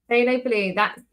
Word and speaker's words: phthalo: Phthalo blue. There's two blues in your paint kit. One is spelled PHT, halo. Like a little halo on your head.